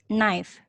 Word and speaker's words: knife: Jadi steak knife ini paling tajam di antara semua knife. Nanti jangan bilang pisau lagi ya adik-adik, tapi bilangnya knife. K-nya tidak disebutkan, maksudnya tidak diucapkan. Jadi knife. Bukan knife atau kenip ya, tapi knife. Oke, lanjut ya.